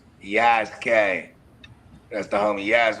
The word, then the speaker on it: Yasuke: Yasuki. But it's pronounced it's pronounced Yaske. Yaske.